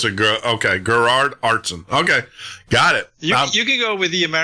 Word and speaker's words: Aartsen: this is a pet my family name is pronounced artson so you're really very close artson okay I got that all right is it herard uh Gerard Gerard Gerard so it's a okay Gerard artson okay got it you you can go with